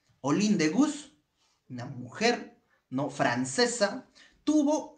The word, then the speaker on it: Olympe de Gouges: de gol de borges así se escribe olympe de gouges se pronuncia all in the bus all in the bus una mujer no francesa